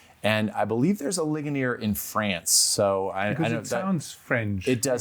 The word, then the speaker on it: Ligonier: You come from a smaller place called Ligonier or how do you pronounce that? That's pretty close, Thomas. Uh, Ligonier. Yeah, Ligonier.